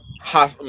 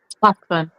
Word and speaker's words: Hassan: Hassan. Meaning I got to put more breath into it. Hassan.